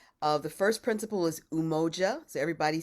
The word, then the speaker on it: umoja: principles so I'll teach you how to to pronounce them they're in ki Swahili uh the first principal is umoja so everybody say umoja and we sing that as umoja and we